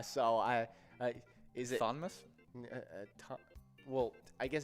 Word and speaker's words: Thomas: we got uh with thomas yeah thomas are is that how you say that's how you spell thomas yeah talk you didn't know that it was the h is silent and well no no